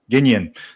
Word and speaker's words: Gagnon: So, is it Gagnon, or how do you pronounce the last name? Ginion. Yep.